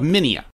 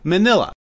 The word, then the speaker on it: Minya: Looking at it phonetically, one would want to say Manila, but the dub clearly says Minya. However, if you listen carefully to the Japanese version of saying it, it is clearly Minya.